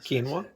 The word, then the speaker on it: quinoa: you have key quinoa quinoa yeah always look at the Qui and don't pronounce it you can take quinoa